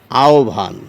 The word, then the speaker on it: আহ্বান: এই বটি ভ এ পরিবর্তিত হয়ে এই শব্দটির উচ্চারণ হয়ে যায় আহান যাই হোক একইভাবে যদি এই শব্দটির উচ্চারণ করি